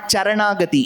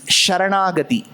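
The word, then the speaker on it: शरणागति: It's not Charanagati, it's Sharanagati. Shri Guru Charana, not Sharana.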